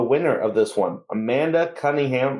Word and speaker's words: Cunningham: He keeps pronouncing it's Cunningham, but he's like emphasizing the first part of her name. Oh, Cunningham. I thought he said Cummingham.